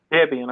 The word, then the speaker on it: Debian: Debian or how is it pronounced? Debian. Debian.